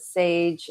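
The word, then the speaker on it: Saje: A big company that, you know, one of my earlier roleons, uh, was inspired by, I think they pronounce it sage, s a j, but they're huge.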